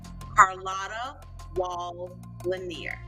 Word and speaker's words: Carlotta Walls Lanier: Pronounce her name properly before Sunday. Carlotta Wall Lanier. Lanier. You said Carletta. We got to say it 2 times. Carlotta Walls Lanier.